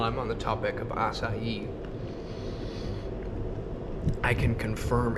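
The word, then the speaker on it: açaí: the way while I'm on the topic of assai I can confirm it's pronounced assai and not any other way that most Americans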